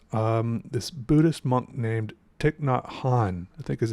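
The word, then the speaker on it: Thích Nhất Hạnh: were by this um this Buddhist monk named ticknot Han I think is how you say his name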